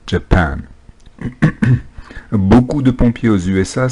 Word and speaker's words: Japan: pluriel voilà le reste la prononciation du mot japon japan accentue sa deuxième syllabe japan beaucoup de pompiers aux